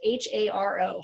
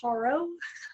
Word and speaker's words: HARO: It's H-A-R-O, Haro, I guess is how you say it, Haro.